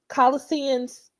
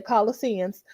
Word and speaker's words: Colossians: Let's go to the Holy Bible and let's look at Colossians. I always mispronounce that. I hope I said that right, because I want to say Colossian, but I'm going to say Colossians.